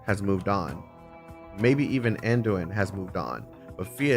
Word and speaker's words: Anduin: Or are you saying that even the two of you together can't catch Andoin? It's okay, I hate this name too. Anduin. So the A is silent.